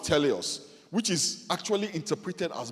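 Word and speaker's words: τέλειος: The word for perfect in this verse is a Greek word pronounced teleos, which is actually interpreted as mature.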